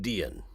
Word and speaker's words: Dean: You can see it's spelled on the gravestone Dean, but I think the way people pronounced it was probably like Dion.